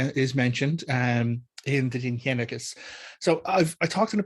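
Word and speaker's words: Dindshenchas: Now that is spelled Dindschencas, but it's pronounced Dinhenicus.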